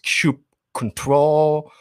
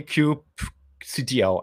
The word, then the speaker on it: kubectl: um let's talk about cube ctl or let's start with the disclaimer how do we pronounce cube ctl is it cube control cube quito cubes doesn't really matter i tend to say cube cdo i think okay anyway